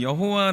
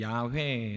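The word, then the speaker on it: 야훼: 그랬다면 예 우리가 아는 여호와 라는 단어는 사실 한국 교회에서 통용되는 단어입니다 실제로 원어로 보면 이 여호와 라는 단어보다 발음으로 볼 때 야외 라고 읽는게 조금 더 정확합니다 어 근데 이 야외에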